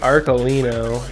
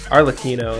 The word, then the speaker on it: Arlecchino: We got the Amazement Administrator Arcolino, or Arlecchino, yeah, that's how you pronounce it.